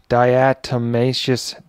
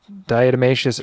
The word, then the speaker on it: diatomaceous: even looked this up earlier to figure out pronunciation of it diatomaceous diatomaceous earth you know whatever there's the card here